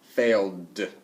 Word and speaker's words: failed: Okay, so that will get a D ending, D kind of ending. Okay, let's look at the word fail. Failed, failed.